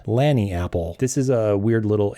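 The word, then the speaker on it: Lagniapple: So you might be tempted to say Lagny Apple or just mumble it or give it a new name because you don't know how to pronounce it. It's Lanny Apple. It is derived from a Creole word, Lanny App.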